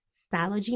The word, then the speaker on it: Stalogy: But no worries, I have this amazing stalogy. That's how you say it? Yes, stalogy notebook that I put down everything that I